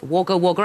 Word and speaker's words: Wagga Wagga: You did not need to see Dame Edna's birthplace, Wagga Wagga. I think you pronounce it.